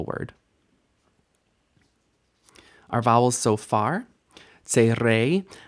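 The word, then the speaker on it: צירי: I've been pronouncing this tserei in the lessons, I realize. Sometimes you'll hear my Ashkenazi sub-ethnicity sort of break through my pronunciation, but technically speaking, this should be tserei, and it makes an A sound.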